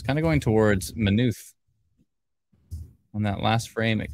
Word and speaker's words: Maynooth: east towards minutes i like to call it maynooth but it turns out it's pronounced minuth um and it's uh 3 49 uh let's see here that looks good 349.